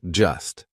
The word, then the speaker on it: just: We drop that T. We do not pronounce it. So just sounds like just, right? Just an S.